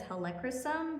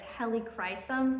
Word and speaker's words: Helichrysum: I actually I think I've been mispronouncing it as helicum, but it's helicum from what I could read online.